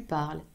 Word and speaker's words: parles: The only distinction when you write is that with tu parles, you would need to add an S. Again, it's not optional. We do not pronounce it, but we write it.